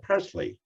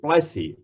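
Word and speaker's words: Plassey: recall it was the battle of presley i think plessy is the correct pronunciation that sowed the seeds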